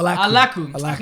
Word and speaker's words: Alakkuu: goes by the very interesting stage name of Alakkuu. Did I say it right that time? So close. What? Alakkuu. Alakkuu. It's not even a real name. You gotta I don't have to pronounce it right.